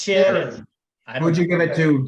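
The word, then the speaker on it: Ciarán: It's Sharon.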